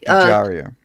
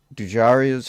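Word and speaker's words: Dujarier: Only one man could salvage Lola's dancing career: Alexandre du Dru, I can never pronounce this. Okay. Dujaria. Yeah. Do Haria or Jari? Yeah. Dujaria. Yeah. Dujaria.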